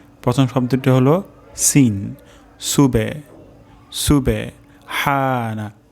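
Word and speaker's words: سبحان: শব্দটি হলো সিন সুবে সুবে হানা হা উচ্চারণ হবে গলার মাঝখান থেকে সুবহানা তারপর শব্দটি হলো রব্বিয়াল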